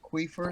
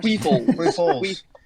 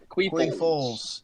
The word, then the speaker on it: Queefles: Queefers? Queefles. Queefles. Okay. Like Nick Foles.